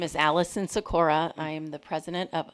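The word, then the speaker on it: Sikora: and commission members uh my name is Allison sakur I am the President of Uptown Menor LLC sakur is spelled s i k o r a and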